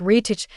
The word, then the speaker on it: wreath: If you're saying wreath like wreath, you're not alone, but you are wrong. The TH at the end is silent. So the correct pronunciation is wreath. No TH sound.